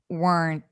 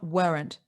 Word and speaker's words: weren't: to weren't listen weren't and an american weren't it's one syllable it's not weren't weren't very nice i